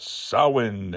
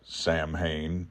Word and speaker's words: Samhain: where Michael Myers was, I wondered why they were talking about Samhain and not Sam Hain. Well, they were talking about Sam Hain. They were just pronouncing it properly.